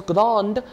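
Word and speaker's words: grande: grow for masculine and if we add an e it becomes grand d will be pronounced and uh it will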